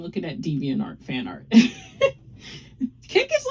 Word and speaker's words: Kik: If you guys don't know how it's spelled, it's K-I-K. Kick.